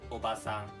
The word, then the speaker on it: おばさん: The second one, obasan. Okay. Okay. 3, 2, 1. Obasan. So it's a little bit shorter.